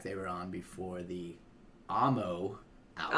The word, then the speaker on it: Amo: were on before the Amo album. Oh, you said it right. I'm so proud of you. Yeah, before the Amo Amo? album. Oh, God. Alamo. I say it wrong because she likes it.